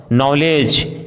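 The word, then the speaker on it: knowledge: यदि किसी वर्ड में के एन साथ में हो तो के का उच्चारण साइलेंट होता है, जैसे नी, knob, knife, no, night, need, knock, knickers, नॉलेज।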